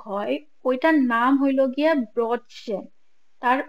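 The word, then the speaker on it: Brötchen: টাইপের ব্রেড গুলো হয় ওইটার নাম হইলো গিয়ে ব্রটসে তার উচ্চারণ হইলো গিয়ে বি আর উমলাউড ও টি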